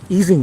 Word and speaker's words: Ising: matter known as the Ising model. Or if you want to be completely correct about the pronunciation, the easing model. But I'll go with Ising cuz nobody will understand what I'm saying if I say easing.